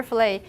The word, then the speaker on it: fillet: want some fish fillet chicken fillet or whatever filet how about this in american pronunciation it's pronounced paris and in french pronunciation